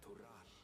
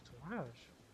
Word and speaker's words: Tural: as the continent of Tural. Oh, so it's not Tural, it's Tourage. It's not Tural, it's Tourage. As they pronounce it in the game.